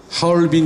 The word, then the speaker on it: 하얼빈: 그 사건때문에 그런지 유독 하얼빈 이라는 이름은 중국 발음 그대로 여태까지 오히려 불러 보고 있는데 1900 운영도 10월